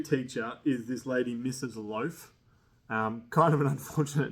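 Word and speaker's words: Loafe: Loaf. Um kind of an unfortunate name, Mrs. It's L O A F E. The silent E kills her, but you know, she was out there.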